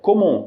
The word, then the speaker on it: comment: A palavra comment, a pronúncia dela é comment, sem ler a letra T, ok?